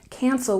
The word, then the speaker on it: cancel: Cancel, we stress the first syllable. Cancel, cancel.